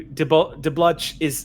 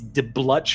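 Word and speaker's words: De Bluch: can look forward to de bludge i'm sorry his name i keep mispronouncing it but just so i get this right once and for all it's the blutch d-e-b-l-u-c-h it's de blush moroni it sounds re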